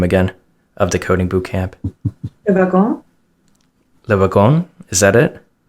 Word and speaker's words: Le Wagon: Celine, can you pronounce the name again of the coding bootcamp? Le Wagon.